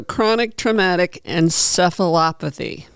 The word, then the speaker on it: chronic traumatic encephalopathy: So, chronic traumatic and seephalopathy.